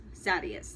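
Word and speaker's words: Sadeas: So, I remember reading a review about this book, concerning, like, Dalinar dealing with Adolin, or Adolin killing Sadius, that's how they say it in the audiobook.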